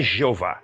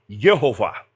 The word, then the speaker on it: Jeová: Então, ele transliterou Yehová como graficamente escrito, digamos assim, Jeová, mas a pronúncia alemão não é Jeová, é Yehová.